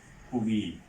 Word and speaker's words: কবি: অব্যবহিত পরে ই আছে, সে কারণে কবি শব্দের উচ্চারণ হবে কবি।